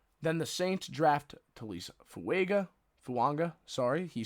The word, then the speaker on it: Fuaga: Then the Saints draft Taliese Fuaga. He said that's how you want it pronounced, in case you were unaware. He wants a silent N after the first A in his last name. So Taliese Fuaga from Oregon State.